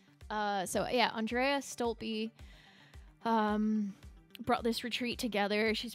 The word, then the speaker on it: Stolpe: I thought it was pronounced Stolpe, but Stolpe. Andrea Stolpe brought this retreat together.